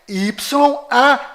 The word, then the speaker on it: Yauh: Na verdade, as letras corretas são YAUH. Yau. Preste atenção.